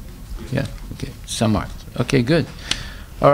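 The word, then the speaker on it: Samarth: Samart. Okay. What does it mean? Powerful. Okay. That's a Sanskrit name? Yeah, okay. Samart.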